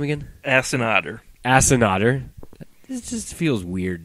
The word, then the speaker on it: Asiata: Assinotter.